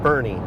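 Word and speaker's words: Burnet: trip to Bernie Texas which I am going to mispronounce for the first 270 miles of this trip but I will get it right eventually it's called Bernie to help our son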